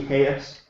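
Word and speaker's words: Jesús: It's spelled Jesus, but it's actually Hayes.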